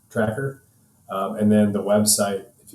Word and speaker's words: TRAKR: Store once it's ready it's spelled t-r-a-k-r tracker and then the website